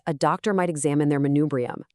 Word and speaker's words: manubrium: Take a look at manubrium, pronounced manubrium.